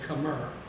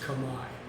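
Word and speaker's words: Khmer: KH h m r and we might say Kamar but it's pronounced Kamai both the language and the culture uh and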